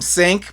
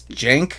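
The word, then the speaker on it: Cenk: It was about I can't I always want to call him Sink because that's how it's spelled but it's Jenk.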